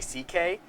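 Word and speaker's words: Szekely: Louis C.K. His Perfect. This is great. This is one, great. His This is last fantastic. name is actually C.K., C.K., yeah. but it's spelled S-Z-E-K-E-L-Y.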